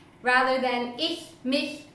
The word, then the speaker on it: mich: Another question that I get asked quite often is, why do you say ish, mish, dish rather than ich, mich, dich? What's up with the pronunciation?